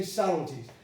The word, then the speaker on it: subtleties: pronounced has is spelled with a b but you don't pronounce the b you don't say subts to tease right you say subtleties that's reduction all right